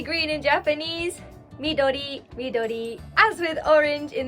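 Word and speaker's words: 緑: Midori, midori.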